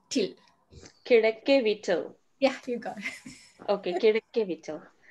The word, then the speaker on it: Kizhakkeveettil: Kirakevitil. Say it again. Kira K V till. Kirakevittil.